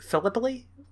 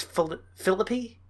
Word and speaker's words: Philippi: Philippi? Philippi? I think it's Philippi? Yeah, Philip, and then depending on how you pronounce the double P-I. So Philippi, I think.